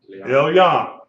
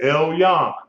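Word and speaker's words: עליון: Elyon, Lamed, and then the Y-O and the final noon, Elyon.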